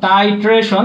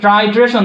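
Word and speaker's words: titration: আচ্ছা চলো, টাইট্রেশন হচ্ছে এরকম, টাইট্রেশন, এটার উচ্চারণ অনেকে ট্রাইট্রেশন পড়ে, বাট এটা উচ্চারণ হচ্ছে টাইট্রেশন, টাইট্রেশন।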